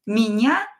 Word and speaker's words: меня: And when E is not stressed, pronounce it as I.